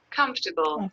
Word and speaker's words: comfortable: So how many syllables do we have? 3 syllables. Yeah, it's a 3-syllable word.